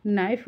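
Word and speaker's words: knife: होता है जब हम नाइफ बोलते हैं तो के साइलेंट होता है ढक्कन कहां है वेयर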